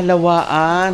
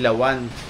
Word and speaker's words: lawaan: lawan lawan lawaan ah lawaan h dilawan so ang tamang pronunciation pala guys lawaan hindi lawan dito pala makakakita ka